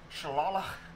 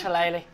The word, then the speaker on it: shillelagh: Shillelagh. Yeah, that's how you pronounce that. See, I saw GH, so I was thinking it was actually pronounced like this. Welcome to Ireland. Yeah. Ireland shit, I guess. It's Shalali. I've got a laxative that